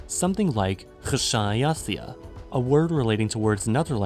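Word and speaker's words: xšāyaθiya: He guessed that the word would have been pronounced KH-SHA-A-YA-TH-I-YA, a word relating to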